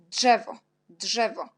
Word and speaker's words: drzewo: Ensuite, on a le mot drzewo. On a DRZ. DRZ, on prononce comme DZ avec petit point.